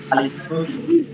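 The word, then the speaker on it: ألف: দেখতে পাচ্ছেন সোজা দাড়ি নেয় এটি হচ্ছে আদি আলিফ এর উচ্চারণ হবে আলিফ শব্দ করে আলিফ আলিফ শব্দ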